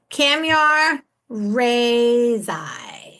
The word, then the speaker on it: Kamyar Rezaie: I want to make sure I don't butcher the name, Kamyar Rezaie. Yes, thank you for having me. Did I do it right? Yes, you did.